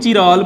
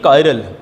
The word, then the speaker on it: chiral: कायरल carbon the presence कई इनू चिराल बोलते आ पर यदी एग्जैक्ट प्रनाउंसिएशन होंगी कायरल।